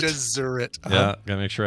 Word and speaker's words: Gesserit: Gesserit. Not Jesuit. Gesserit.